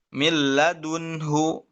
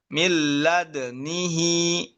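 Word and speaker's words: لدنه: Dalnya tapi sukun dulu, disukunkan dulu. Milladnihi, milladunihi. Ya, bukan milladunhu. Milladnihi.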